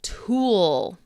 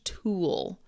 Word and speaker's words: tool: Now, this sound might be a little difficult uh depending on your native language. This sound is very common in in English, especially American English. Tool. Tool. tool. It's got that dark L sound.